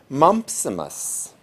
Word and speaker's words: mumpsimus: today is the word mumpsimus it's spelled m-u-m-p-s i m u s so it's like the disease mumps with imus at the end of it and the